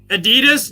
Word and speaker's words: Adidas: Adidas is German.